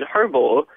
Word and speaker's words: herbal: said don't you mean herbal and I said no herbal and they're like well there's an H in front of it why wouldn't you pronounce the h and I was completely